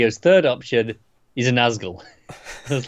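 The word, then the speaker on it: Nazgûl: Did I even say it right? You did, Nazgul. They're the big, the ring wraiths. Well, there was an N at the start. I just said Asgul.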